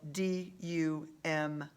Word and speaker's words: dumb: inside manchester middle school what's the silent letter in um dumb be good elizabeth she is